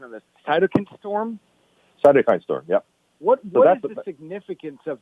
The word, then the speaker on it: cytokine: now a couple of times and correct my pronunciation of the cytokine storm cytokine storm yeah what significance of that it seems